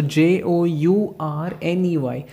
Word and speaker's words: journey: It's not journey because R is silent. So J-O-U-R-N-E-Y. So whenever you're going to pronounce this word, you need to make sure that the R which you are saying it in your pronunciation, you have to just remove it and silent it while pronouncing it. So the pronunciation will be journey.